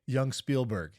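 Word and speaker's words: Yung Spielberg: Young Spielberg. That's his name. That's a good name. I really like that. But Young without an O. Y-U-N-G.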